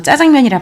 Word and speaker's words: 짜장면: 예전에 자장면이 지금은 이제 표준 발음이 복수로 인정해주셔서 짜장면이랑 발음해도 돼요 자 형은 시장골목에서 짜장면